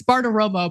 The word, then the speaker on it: Bartiromo: It's Bartiromo, but it's okay.